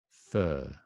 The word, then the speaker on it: fur: be fur fur right so the one on the left is UK fur I don't like his fur fur and if you say if you follow it with a vowel his fur is nice you can hear the earth a bit right his fur is nice